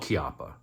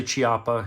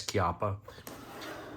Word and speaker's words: Chiappa: from a company called i think it's called kiapa some people say chiapa it's italian i'm thinking chianti is spelled with ch whereas ciao ch sound but it's not doesn't have an h so i'm going to say that that's chiappa i have gone and gotten